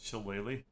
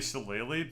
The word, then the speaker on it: shillelagh: casting spell called Shillelagh?